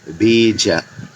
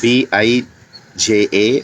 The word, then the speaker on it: bija: it in english as b i j a or b e e j a because when you write it as b e e j a you get the pronunciation better it is it's not